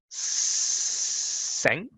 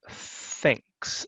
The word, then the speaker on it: thanks: teeth and your tongue so it's not sanks right it's thanks and if nothing else